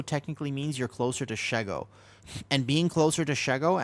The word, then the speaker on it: Shego: It's It's not It's pronounced What do you mean? Is it Shego? It's Shego. She? Her name is Shego.